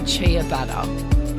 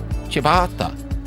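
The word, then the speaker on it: ciabatta: Billy Alish but you did not just say Chia better how's it pronounced Joel chabata chabata CH I don't get don't get the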